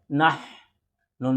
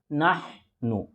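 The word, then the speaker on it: نحن: সঙ্গে নাহ নন পেশন নাহনু নাহনু ভালো করে খেয়াল করবেন হা দুই রকম একটা গোল হাটা একটা লম্বা হাটা লম্বা হা গোল হা উচ্চারণ প্রথম থেকে আর এই হার উচ্চারণ ভিতর থেকে মিম পেশ মুল মিলবে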